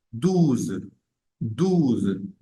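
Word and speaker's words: douze: allá de eso está en el 12 pronunciamos esa Z al final en el dos no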